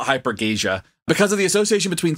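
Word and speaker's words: hypergeusia: So the authors of these studies go on to suggest that we should stop calling it super tasting and instead call it hypergasia.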